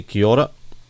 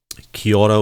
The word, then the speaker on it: kia ora: And if you're from New Zealand, they say kia ora, or it's spelled Kiaora.